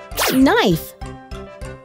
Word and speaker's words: knife: did but i know there are some words that start with the letter k but it is silent almost as if you